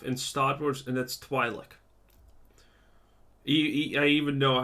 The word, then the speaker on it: Twi'lek: I mean, there's only one alien race that you know the name of in Star Wars, and that's Twi'lek. I even know how to pronounce it correctly.